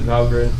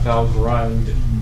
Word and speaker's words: Valgrind: That's how they want you to pronounce it, Valgrind, not Valgrind. They get angry about that. Whatever. Valgrind? Why they Valgrind. put the extra letter in though? Apparently it's from Norse mythology, and that's how it's pronounced.